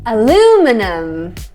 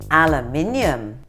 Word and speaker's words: aluminium: Aluminum. Aluminium. And this is one that's actually spelt differently in Britain. Yeah. So that's why you get that extra syllable.